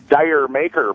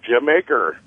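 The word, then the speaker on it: D'yer Mak'er: I was going to talk to you about the famous contraction of Dire Maker by Led Zeppelin. That's how a lot of people pronounce it. Jamaica? Yeah, it's the Jamaica.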